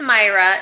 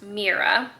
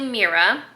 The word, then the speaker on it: Mira: And her name is not pronounced Myra, it's actually pronounced Mira. So in my last update, I was saying her name wrong. So it's actually Mira.